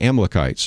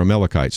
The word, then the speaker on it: Amalekites: out and kill the amalekites or amalekites depending on how you want to pronounce that and you might say